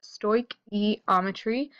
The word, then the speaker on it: stoichiometry: is stoichiometry that's right this S word is pronounced stoichiometry often abbreviated as just stoick now we need